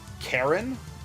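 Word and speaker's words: Charon: But yeah, so for the boatsman to the underworld, I've heard it Karen, but I think that's the Roman pronunciation. Chiron and Carlon. Chiron is how it's pronounced in Evermore.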